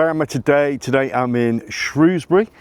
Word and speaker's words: Shrewsbury: Today I'm in Shrewsbury. Uh, it or Shrosbury, depends where you're from, how you say it, but if you want to say it correctly, it's Shrewsbury.